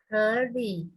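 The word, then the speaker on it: 可以: Oke, jadi bacanya 可以， ke-nya udah benar. Li nada 2, 力，力， li 1. 可以， Li 2 ya, ke-nya naik, li-nya juga naik.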